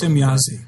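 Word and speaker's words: Semjase: I don't know how to pronounce it properly. You got it, Semyasi, yeah.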